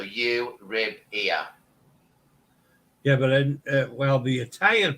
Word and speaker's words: Euribia: The easiest way to say it is think of euro as in the European currency euro, Euribia. So Euribia.